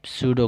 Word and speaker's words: pseudo: अब सूडो code, P silent हो जाता है, सूडो कोड, लेकिन लिखना है आपको पीसीडीओ, PSEUDO, पीसीडो कोड, ये याद रट लीजिए इसको।